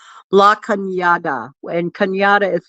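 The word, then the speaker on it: La Cañada: It's in a town called La Kyada and Kyatta is spelled like Canada.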